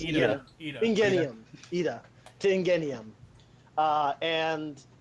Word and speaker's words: Iida: I can never pronounce his name. It's Ida.